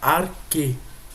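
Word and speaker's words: ἀρχή: Ó, como eu falei para vocês, no caso aqui, ele não pronuncia o ri, que é esse xzinho aqui, como ri. Ele pronuncia como ki. Então fica arque.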